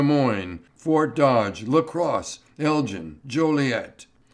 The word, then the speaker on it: Joliet: fort dodge lacrosse elgin joliet but he pronounced it julie and i forget was